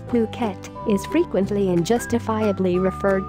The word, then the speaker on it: Phuket: tropical island of Phuket fortunately pronounced as Phuket is frequently and justifiably